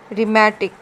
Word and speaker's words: rheumatic: ਮੈਂ ਪ੍ਰੋਨਾਊਂਸ ਨਹੀਂ ਕੀਤੀ, ਇਹਨੂੰ ਰ ਨਹੀਂ ਪੜ੍ਹਿਆ, ਇਹਨੂੰ ਰਾਈਮ, rhythm, ਰਿਨੋਰਸਿਸ, and this one rheumatic।